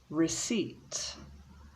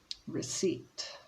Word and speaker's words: receipt: letters silent c scissors receipt so we don't pronounce the p receipt recipe so we don't